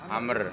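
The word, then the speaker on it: عمرو: Tebak kalau ain mem ra wawu, bacanya apa? Amr.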